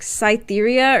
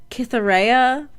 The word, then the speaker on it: Cytheria: always reading her name I would always pronounce it as like cytheria or something but the audio book pronounces her name as kithera which I don't know that I don't know where the case like it's a c but I guess they use a k I don't know if